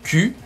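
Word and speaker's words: 九: Le chiffre 9, ku, homophone de souffrance, se prononcera Q.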